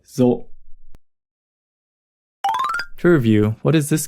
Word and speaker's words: ぞ: So with the dakten is pronounced zo.